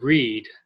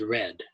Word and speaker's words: read: interesting book last month remember the past tense of read is read spelled the same way I looked for my